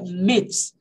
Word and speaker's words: myths: Mas aí, mitos, no plural, aí não, aí é myths. Porque não tem como pronunciar o TH e o S. Myths, não dá pra falar. Então, no caso, como tá no plural, eu não leio o TH.